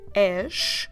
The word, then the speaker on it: és: Every time you have the letter S at the end with the sound sh that we've just heard on és, tu és, that sh, we spell it with S, is a S at